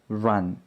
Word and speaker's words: run: 첫 번째 단어는 L이죠. learn. 두 번째 단어는 R 발음을 해야 됩니다. run, learn, run. 달라야 해요.